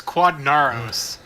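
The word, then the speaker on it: Quadinaros: It's Quadnaros. Whatever. That was I don't know, Quadranero. that's how I would pronounce it.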